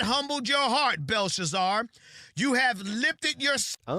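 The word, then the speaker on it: Belshazzar: Daniel said, "You have not thought it was Balthazar. Not humbled your heart, Belshazar.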